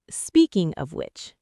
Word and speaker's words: speaking of which: Speaking of which, the stress is on which. Speaking of which.